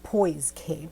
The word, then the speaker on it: Poise K: it's called poise k it's poise k i had said it wrong the first time poise k very pretty